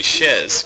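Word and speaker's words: chaise: it's supposed to say it's supposed to be Shez because Shez is the uh French word for chair oh but we just pronounce it Chase SL and after like 70 years of doing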